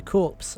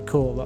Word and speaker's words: corps: but I lose my es the corpse oh well or ES the core rather if I'm going to say it properly notop corpse it's core you idiot you knew that you